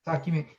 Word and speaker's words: Sakyamuni: and then Kathy, how do you pronounce those? Gautama? What do you say? Gautama. Gautama or Gautama? Yeah. Yeah, and Sakyamuni. Sakyamuni.